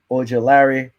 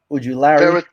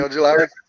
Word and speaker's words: Ojulari: Aziz Ujulari. Okay, Ojulari. That's it. I think that's how you say it.